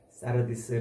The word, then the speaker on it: 사르디스: 사대 교회에 보내는 지죠 사르디스 발음은 원래는 사르디스 그러는데 우리 한글로 그걸 사대 이 지금 발음을 합니다 사대는 BC 1200년경 다윗보다